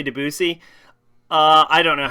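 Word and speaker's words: Debussy: at how to pronounce with a typical French pronunciation Cloe his first name DUI deusi DUI Cloud deusi I was right okay never mind I was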